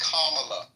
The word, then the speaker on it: Kamala: mind control first questiona her name is Kamala she's Indian okay that's how you say her name and if you ever